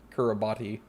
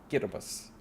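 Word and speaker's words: Kiribati: but yeah just like it's not kurabati it's gitabus for the island nation but yeah unimportant random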